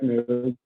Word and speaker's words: Mekri: Did I pronounce that correct? Yeah, Black Mekri.